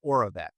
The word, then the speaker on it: Oravet: It's called Oravet, which is ORA, like oral, and then VET.